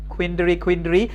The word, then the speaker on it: quandary: QUAN, queen, তারপরে কি DARY, এটা কুইন্ড্রি, হ্যাঁ, কুইন্ড্রি, ড্রি হবে উচ্চারণটা, হ্যাঁ, যেমন বাউন্ডারি না, আমরা কি বলি বাউন্ড্রি, হ্যাঁ। সো কুইন্ড্রি মানে কি আসলে দেখো তো, আমি তোমাদেরকে চারটা অপশন দিলাম।